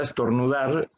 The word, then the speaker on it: estornudar: la acabo de pronunciar la palabra estornudar la sílaba que más suena es dar tenemos silla silla y